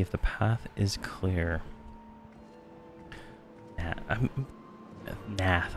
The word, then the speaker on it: Gnath: Nath, I think, is what it is. I think I'm not supposed to pronounce the G.